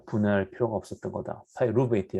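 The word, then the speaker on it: pyruvate: 파이루베이트, 영어는 파이루베이트 그러면 잘 못 알아들어요. 그러니까 발음은 좀 후져도 좋은데 액센트는 지금 음절에 딱 맞춰서 해야지 외국 사람들이 좀 알아듣죠.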